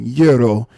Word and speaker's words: gyro: had my first Euro, some people call them gyros. I call them what they pronounce euros. And the only reason I knew that because of actually being out there and like, uh, can I get a gyro, please? They like, yuro? You mean yuro?